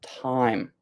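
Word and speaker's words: thyme: How do we pronounce the word time? So, time is pronounced the same way that you pronounce t i m e.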